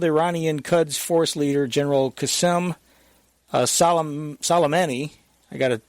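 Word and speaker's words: Qasem Soleimani: International Airport, killed Iranian Quds Force leader General qasem-soleimani, I got to pronounce his name right, qasem-soleimani, and senior PMU commander Abu Mahdi al-muhandis.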